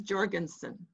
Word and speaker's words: Jorgensen: You should say her name is Jorgensen. Jorgensen. With a J.